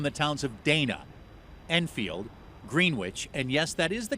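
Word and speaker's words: Greenwich: of people from the towns of Dana, Enfield, Greenwitch, and yes, that is the correct pronunciation, and Prescott.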